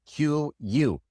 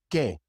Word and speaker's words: que: It is K. The U is silent.